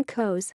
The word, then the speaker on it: Cos: in the neighboring community Lac history the name goes with the S pronounced refers to a hill of pebbles in